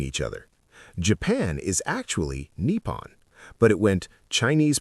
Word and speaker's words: Nippon: Japan is actually Nepon. But it went Chinese pronunciation to Malay to Portuguese to English.